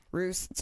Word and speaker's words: Ruess: see that bottom one key pronounced roosts are you ESS he's he's a [